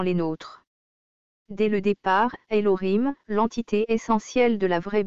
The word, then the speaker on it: Elohim: ainsi que dans le système massorétique alim se prononce Elohim cette prononciation là est retenue par la langue